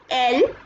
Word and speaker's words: elle: Je, tu, il, elle, nous, vous, il, elle. Okay, this is also not pronounced as else, this is elle.